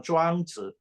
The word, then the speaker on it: Zhuangzi: Chinese words are monosyllabic, meaning there's only one syllable per Chinese character. So when I say Zhou Wang, I don't mean for you to split Zhou and Wang in two words, like Zhuang, Zhuang, Zhuang, Zhuangzhou, or Zhuangzi.